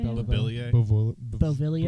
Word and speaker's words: Beauvillier: Beauvillier. Beauvillier.